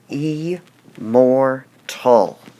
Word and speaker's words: immortal: syllables does immortal have so we would say the word e more tall so this word has three syllables so it would have three markings above it e more tall which part of the word do we stress e mortal immortal or immortal so the part of